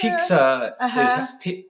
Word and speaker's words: Picsa: Picsa it's Picsa, Picsa, but that's how Argentinians pronounce pizza.